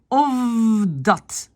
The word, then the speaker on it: of dat: Of dat, le F devient V.